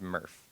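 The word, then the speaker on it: MRF: this facility called a material recovery facility pronounced murf um and basically what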